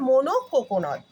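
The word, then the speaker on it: মনঃকোকনদে: মনোর পর কিন্তু মনো কোকোনদ বললে হবে না, বিসর্গ আছে, সেখানের উচ্চারণ পরিষ্কার করতে হবে, মনো কোকোনদে।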